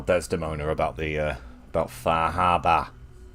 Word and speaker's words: Far Harbor: about the uh about faraba that's how you're supposed to pronounce the title today by the way faraba written in phonetic Bostonian oh so much bigger